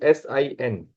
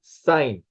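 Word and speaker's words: sine: In short, it is written as S I N. So, always pronounce it as sign.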